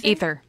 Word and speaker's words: Aether: is Aether World a ather World ether ether cool it's spelled ether yeah that's still pronounced ether cool um and it